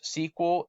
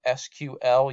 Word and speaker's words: SQL: most of your databases use sequel SQL you'll hear it pronounced both its structured query language this